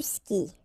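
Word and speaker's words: skies: And then tu skis. Exactly the same thing, even if you get this S, well, actually the is mute. You don't pronounce it, so you don't pronounce the final S either.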